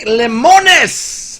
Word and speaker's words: Lemonis: that need to step your game up Frank lemonis there you go I said it right this